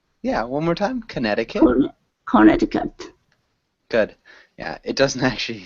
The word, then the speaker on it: Connecticut: good reading the only two small things Connecticut Connecticut con yeah one more time Connecticut Connecticut good yeah it doesn't actually sound anything like